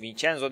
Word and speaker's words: Vincenzo: Hey, Vincenzo diye okunuyormuş İtalyanca demek ya.